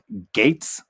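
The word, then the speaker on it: Gaetz: u.s house of representatives matt gates i believe is how you pronounce it g-a-e-t-z is now being investigated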